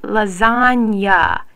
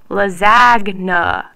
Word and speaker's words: lasagna: In Italian, when a G is followed by an N, it makes a N sound. That's why we say lasagna and not lasagna.